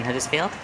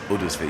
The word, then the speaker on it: Huddersfield: but you do pronounce it's like ERS field but the H is still there you just don't say it yeah I mean I